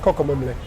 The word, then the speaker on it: Kokomlemle: Kokomemle.